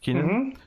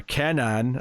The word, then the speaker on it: Kenan: First backup is the second half of the new Superman story with Kenan, or Kenan, as Bakshi rudely corrects us all on.